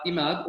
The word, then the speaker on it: Imad: yeah for sure um my name is uh imad or as we see in arabic to get yourself familiar with it so that's how we pronounce it in arabic my parents have lived